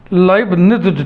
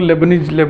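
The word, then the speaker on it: Leibniz: Alternating term series के लिए सिर्फ एक ही टेस्ट डिजाइंड है, लाइबनिज़ टेस्ट, जिसको हम लोग लेबनीज उच्चारण करते हैं। इसका सही उच्चारण है लाइबनिज़।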